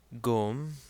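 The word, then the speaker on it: ϫⲟⲙ: Finally, we have here the word gom. So again, we have the Ganga taking on a hard G sound since it's followed by a short O.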